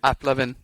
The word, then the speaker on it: AppLovin: So Applovin. That's how you say it. Not loving. So, there's no N there. There's no ing.